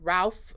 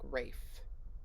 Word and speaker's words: Ralph: reactions and everything because it looks like Ralph but I think it's pronounced like Rafe array fights or something